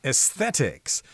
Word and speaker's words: aesthetics: of different views about aesthetics." That's a hard one to say. Aesthetics. You got to put the th sound in there.